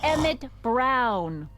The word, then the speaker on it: Emmet Brown: That's Emmet Brown. Rhymes with clown, which I'm beginning to think you are.